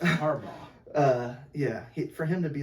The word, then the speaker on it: Harbaugh: Yeah, it's Harbaugh.